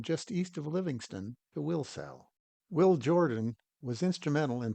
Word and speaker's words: Wilsall: Wilsall, as I was later told how to pronounce, is located in the Shields Valley, the namesake of which came from Lewis and Clark's blacksmith, John Shields.